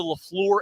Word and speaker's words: LaFleur: That's the thing I always think about with the Packers is like the high point of the LaFleur era is beating the Dallas Cowboys in the postseason.